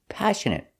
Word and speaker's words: passionate: first example is passionate passionate stress is on a first syllable passionate and the next two syllables are pronounced the same uh passionate passionate means